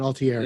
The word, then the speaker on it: Altieri: It was directed by Kevin Altieri and Altieri. Yeah, thank you. You got to say it like you're Italian, Altieri.